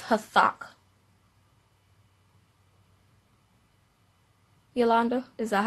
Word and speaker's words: Hathach: Okay, so you don't really pronounce the K, but Hathach is how you say it.